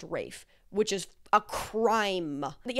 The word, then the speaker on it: Ralph: I found out recently that it's not Ralph Fiennes, it's pronounced Rafe, which is a crime.